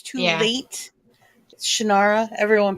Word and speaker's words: Shannara: scenario of shanara The Sword of Shannara he pronounces it shenara but he didn't tell anybody that until after it got famous so it's too late Shannara everyone pronounced it series and he did the